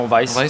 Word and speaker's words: Weiss: So, the youngest in the round, Monsieur Weiss, is that the way to pronounce it, or is it Weiss? Yes, no, Weiss.